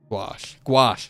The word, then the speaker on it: gouache: But I do hear painters use that word because gouache is also a paint thing. It's like, gouache. Yeah, gouache.